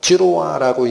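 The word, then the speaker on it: זרוע: 자, 그래서 여기에 지금 아가서 8장 6절에 파레라고 하는이 단어는 어 찌로아라고 읽히는 히브리어입니다.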